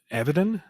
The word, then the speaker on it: Avidan: Dan Avidan, I think is how you pronounce it.